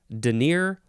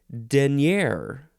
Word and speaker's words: denier: word but number two is pronounced denier or maybe it's denier the emphasis is on the first syllable this is a unit